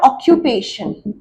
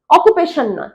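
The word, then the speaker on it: occupation: What is ইর অকিউপেশন? হয়াট is your অকিউপেশন? অকিউপেশন? অকুপেশন অকিপেশন। অকিপেশন উচ্চারণ কি?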